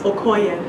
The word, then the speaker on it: Okoye: Can you pronounce it for us? Okoye.